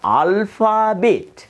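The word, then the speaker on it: Alphabet: பாருங்கள், அல்பா என்று நான் உச்சரித்திருந்தேன், அது பிழை. திரும்பவும் நான் சொல்லுகின்றேன், இது வந்து அல்பாபேட்.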